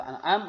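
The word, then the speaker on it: الآن: Jadi boleh juga dibaca dengan dua cara baca. Yang pertama dengan tashil atau dengan mat farq, ya. Al-ana. Kalau dengan mat farq dipanjangkan 6 harokat.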